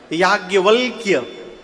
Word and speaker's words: याज्ञवल्क्य: शुद्ध लिखने जाइए यदि हिंदी में तो य में आ की मात्रा या ज्ञ व आधा ल आधा क और य शुद्ध उच्चारण करिए तो जीभ टेढ़ हो जाएगी। याज्ञवलक्य गोस्वामी जी बोले इतना